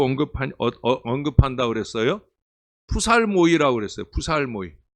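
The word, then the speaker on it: ψαλμοί: 푸살모이.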